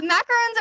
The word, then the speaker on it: macaron: just so stressful uh macarons are actually a different type of dessert they are coconut based although very delicious macaron is uh how you pronounce this specific dessert and I know multi many people have messed it up so here just